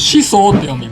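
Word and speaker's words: 宍粟: This kanji is pronounced "Shisou."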